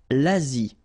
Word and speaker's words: Asie: L'Asie, same thing here, final E is not pronounced.